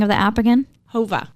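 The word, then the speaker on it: Whova: wanting this one and okay what was the pronunciation and spelling of the app again Hova W OVA so when you register you'll have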